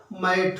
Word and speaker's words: mat: लेकिन ये देखिए आप, इसके बाद जब हम ई लिख देते हैं तो इसका उच्चारण बदल जाता है ना? अब MAT था तो मैट था, लेकिन जैसे ही टी के बाद ई आया, ये क्या हो गया? ये हो गया मेट।